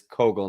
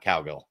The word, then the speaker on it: Kogal: So, the team is now learning it is Kogal, not Cowgill.